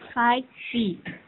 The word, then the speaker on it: SciPy: SciPy diucapkan SciPy adalah software open source untuk matematika, sains, dan rekayasa.